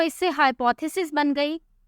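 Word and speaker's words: hypotheses: और इसकी प्रोनाउंसिएशन है कि हम आखिर में Z की आवाज़ निकालेंगे, हाइपोथेसिस।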